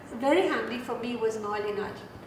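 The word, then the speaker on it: Moholy-Nagy: And there, the person who came in very handy for me was Molinaj. I don't know how you pronounce Molinagi is what we discovered.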